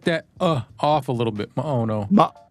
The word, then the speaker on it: Maono: You basically Maono. cut that off a little bit. Maono. Maono. Yeah, it sounds to me like Hawaiian, like how Hawaiians pronounce things, but Yeah, I like just mahalo.